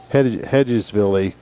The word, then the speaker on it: Hedgesville: Is it Hedgesville? Hedgeville, yeah. Hedgesville, the way they pronounce it.